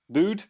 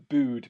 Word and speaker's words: Bude: I have got a beer I found in my fridge, which is from Bude when I went to visit Cornwall. Bude? Bude?